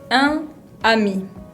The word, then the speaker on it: un ami: Para que suene más fluido, más francés, más natural, puedo unirlos con la liaison y pronunciar un ami, un ami. Usar la N final de la palabra un para pronunciar nami.